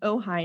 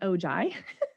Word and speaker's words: Ojai: is ojai california a ojai pronounced oh hi not ogi and it's also not ohio and it's a small